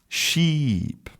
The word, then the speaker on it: sheep: So, in the first one you have a short vowel /i/ /i/ ship and in the second one you have a long vowel /i/ sheep and short and long vowels are really important a part of correct English pronunciation.